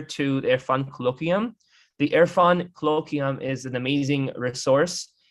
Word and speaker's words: Irfan: as a contributor to their fund colloquium the irfan colloquium is an amazing resource it's spelled i r f a n irfan colloquium